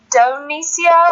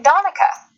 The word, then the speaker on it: Donica: Did you say it Donicia, or how did you say it earlier? Donica? Donica. Well, that was close, but it's Donica. Donica. Like Monica with a D.